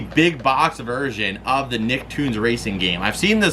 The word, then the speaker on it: Nicktoons: And then next up here, we got this one in from Don and T-Dog here, and that is Nicktoons. It's spelled like Looney Tunes though.